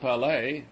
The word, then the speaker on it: Palais: I visited the Palais, pronounced Palais, which was burned by the Prussians in 1870.